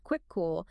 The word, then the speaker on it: Kvikoo: That's pronounced quick cool.